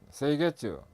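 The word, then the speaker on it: 清潔: 일본에서 OS가 생겼는데 일본어로 발음을 하면 정리는 세이리, 정돈은 세이돈, 청소는 세이소, 청결은 세이게츠, 생활화 또는 습관화는 시츠게 이렇게 발음합니다.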